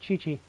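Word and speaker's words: Qiqi: So, that's how you pronounce it, Chi-Chi.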